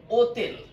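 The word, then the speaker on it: hotel: আক্কা করে থাকে আর আক্কার উচ্চারণ সবসময় সাইলেন্ট রাখে এখানে এর উচ্চারণ হবে ও তেল হোটেল হবে না এটার উচ্চারণ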